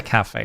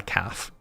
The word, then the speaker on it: cafe: There are some words which just like it's a cafe. It's not a calf.